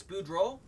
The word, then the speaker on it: Boudreaux: It looks like Bordeaux to me. Boudreaux to me. Which could also be Cajun, if it's Boudreaux. Yep, I figured that might have been it.